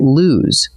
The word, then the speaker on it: lose: Now drop one O and you get lose, which rhymes with news.